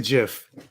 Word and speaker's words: GIF: It's a GIF. No, I don't care. All 42 of y'all that think it's a hard G.